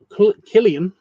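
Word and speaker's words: Cillian: Um, Killian.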